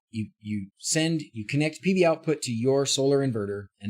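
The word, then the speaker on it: PVOutput: connectivity should be able it's not output i'm pretty sure it's outpost world's biggest project is it output i thought it was outpost sorry pv output i said it wrong yeah so you set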